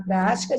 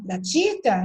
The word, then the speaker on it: prática: Se é prática e não pratica, então tem que ter acento.